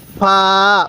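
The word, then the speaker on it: فاء: হরফটির নাম হলো ফা ফা ফা মুখ দিয়ে হালকা বাতাস বের হবে এরপরে এই হরফটির নাম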